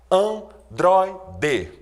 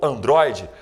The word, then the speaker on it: androide: Exemplos: estreia, ideia, androide. Reparem aí que a sílaba mais forte nessas palavras é justamente a penúltima. Portanto, estreia, portanto, androide, são palavras paroxítonas.